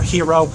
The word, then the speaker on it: gyro: Yeah, I'm a huge fan of gyros. The Euro, or Gyro, or Hero, however you pronounce it, I pronounce it Euro.